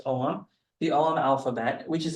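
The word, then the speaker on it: Ogham: is called the OM do not pronounce an oam it's omam the omam alphabet which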